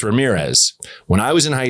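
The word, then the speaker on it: Ramírez: He had that accent, my name is Ramirez. Like, no, it isn't. It's Makulla. Like you didn't even do, you didn't roll your R, nothing.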